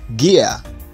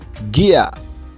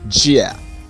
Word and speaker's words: gear: say gia gia but the corrupt british standard pronunciation for this word is gear gear gear and not jia number three google google so you're going to